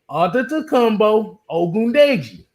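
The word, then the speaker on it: Adetokunbo Ogundeji: Antetokounmpo Ogundeji.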